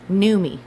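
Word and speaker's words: Noomi: me what my name it's pronounced new me I I know look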